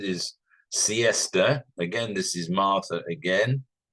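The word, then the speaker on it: Marthe: this is Martha again Marth is spelled in incidentally m a t h e so it might be pronounced Marth but I'm tend I'm putting a little bit of emphasis on the e um to make it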